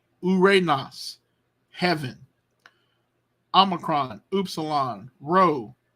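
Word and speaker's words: οὐρανός: this um so so notice diphthong two letters one sound one syllable ooh Ray Nas Uranus heaven Omicron up salon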